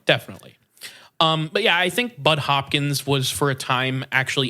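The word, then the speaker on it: Budd Hopkins: intentionally mispronouncing his name, Bud Hopkins, gives an introduction to the book, and I can confirm his name is not Butt Hopkins.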